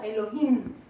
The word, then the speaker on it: Elohim: importante y es Elohim Elohim se escribe con h intermedia y podríamos pronunciarlo algo así como Elohim Elohim es el plural